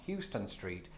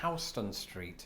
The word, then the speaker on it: Houston Street: attention on Twitter that this is pronounced not Houston Street, but Houston Street.